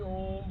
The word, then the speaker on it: ओम: उच्चारण तो ओम का उच्चारण कैसे करना य सुनिए य नहीं कि ओम बोलना स्टार्ट कर दिया ओम के उच्चारण में उठाएंगे स्लो से थोड़ा पिक पे लाउड ओम में आवाज होनी चाहिए बहुत लोग क्या करते